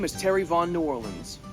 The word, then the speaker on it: Nuorlans: My name is Terry von New Orleans. like the city but not spelled the same.